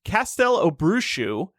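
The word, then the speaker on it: Castelobruxo: in rio he could meet a professor from castel obrushu i found the pronunciation on wizarding world i know that's right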